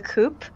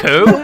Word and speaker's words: coup: So this movie was originally supposed to be named The Coop. The Coop. So what was it supposed to be called? The Coup? The Coup. Yeah, the coup. The OUP. I just mispronounced it.